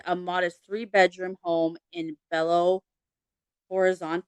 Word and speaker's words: Belo Horizonte: Continuing to Brazil, Jim's family rented a modest 3-bedroom home in Belo Horizonte. I think that's how you pronounce it. That's right.